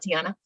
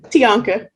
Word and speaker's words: Tianka: resonation to your point i do like tiana i mean i'm sorry i know i mispronounced your name babe you gonna give me your right name and i'ma say it correctly on this call i'm listening tianka tianka thank you uh to tianka's